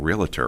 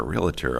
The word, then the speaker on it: realtor: wow what's the deal why do people mispronounce realtor as realtor don't know that but every time i hear that my cringe and i just want to correct them which is not nice robin you shouldn't do that well jim does try not to i resist the impulse i hear you no we educate no people are seeing a syllable that isn't there but there must be